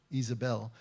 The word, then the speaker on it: Jezebel: Because at this time, Ahab, Jezebel, Isabel is the way it would be pronounced in Hebrew, the king and queen, they have already gone to the foreign gods.